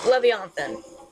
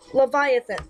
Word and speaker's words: Leviathan: half years and like I would always pronounce it Le'Veon and finally all my storm level wizard you got it wrong it was actually supposed to be pronounced Leviathan like what yeah you've